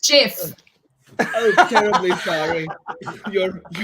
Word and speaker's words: gif: I think it's pronounced Jif.